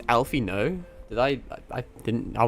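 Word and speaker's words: Alphinaud: It's Alfino. Did I I didn't I would never think to have pronounced it that way.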